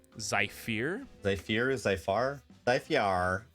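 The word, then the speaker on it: Zyphear: to zypher okay so that's spelled zy p h e AR zai fear they fear is life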